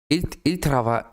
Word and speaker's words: ils travaillent: And ENT that you never hear at the end of the verbs. So written literally, ils travaillent, pronounced, il travaille.